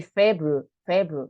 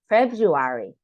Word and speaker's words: February: February okay febru February we don't say febru febru no feu February February January February okay I didn't